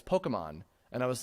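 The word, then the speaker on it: Pokémon: parts of this, because I said Pokemon, I was pronouncing it as Pokemon. When I was reading through the magazine, and then my mom pointed out, no, honey, that's an apostrophe on top of that E. It's Pokemon.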